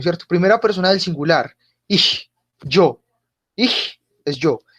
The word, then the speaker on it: ich: Primera persona del singular, ich, yo. Ich es yo. Esa CH suena como tiene un sonido fuerte, es como una J fuerte. Ich.